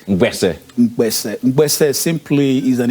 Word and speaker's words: Mkpese: What's the correct pronunciation? Mkpese. Mkpese.